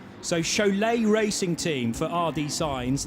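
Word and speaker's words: Šiauliai: i felt i should get this right it's pronounced show lay so chole racing team for rd signs they were the gtx race leaders overnight having completed 141 laps but s-i-a-u l-i-a-i the lithuanian pronunciation chalet and i quite like to visit there one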